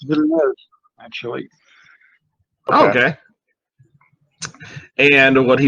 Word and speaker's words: Villeneuve: And in more particular, you know, talking about the new Dennis Villenueve, I don't know how to say it. Villeneuve. Okay. I think it's Villeneuve, actually.